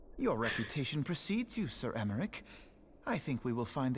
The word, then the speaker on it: Emmerich: am emmerich lord commander of the temple knights emmerich so that's how you say that alfie no